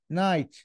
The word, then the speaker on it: night: يت نا ان اي نايت الج تنطق نايت بعد وهذ قاعده زي كلمه رايت ار اي جيش رايت لا تنطق بعدش يت نمت متاخرا ليله